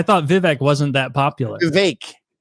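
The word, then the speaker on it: Vivek: vivec wasn't that popular VI it rhymes with cake they give me a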